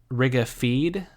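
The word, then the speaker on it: Riga-Fede: this one is that Rigga feed if it's spelled fe de but pronounced F EE D Rigga feed may cause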